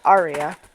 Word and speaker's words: Arya: just muted arya okay the correct pronouns are supposed to be arya the whole time i've